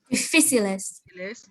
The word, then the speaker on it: difíciles: It has a tilde over the I, so you know straight up which letter you're gonna have emphasize or put a long sound on, which is, how do we pronounce this word?